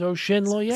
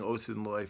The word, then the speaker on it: Osinloye: to Nigerian roots and determined that the correct pronunciation is Osinloye. So as originally, I, I certainly and my Nigerian family cleared that up for us. So we were saying Osinloye for the first time, years of my life